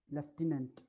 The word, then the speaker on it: lieutenant: please give me the pronunciation of the word displayed in british english lieutenant that is right novel please note chandan gets 10.